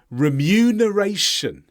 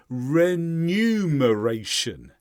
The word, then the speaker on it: remuneration: do you say it remuneration remuneration this is confusing because it's to do with numbers so in our mind sometimes we think it's renumeration numer because it comes from numeral but the order